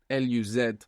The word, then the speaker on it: luz: And the word luz, L-U-Z, so actually this Z would be pronounced th in most of Spain, luz.